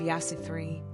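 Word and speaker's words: يسوع: Now put that at the end of Yasu 3. Well done. That is how you say Jesus in Arabic.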